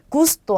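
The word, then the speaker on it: gusto: 자, 우선 뒤에 모음이 아, 오, 우로 오는 경우는 기역 발음이에요. 그래서 자, 이 단어는 가파스라고 읽고요. 자, 이 단어는 고르도라고 읽겠죠. 그 다음에 이 단어는 구스토라고 합니다.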